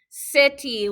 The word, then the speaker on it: city: City. Let's write it on the floor. Here we go. C-I-T-Y, city. And sometimes we say it like city. So that T sounds like a D, city.